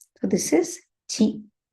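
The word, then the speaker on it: ち: Native Japanese words don't have ti in its vocabularies. It only has a chi sound.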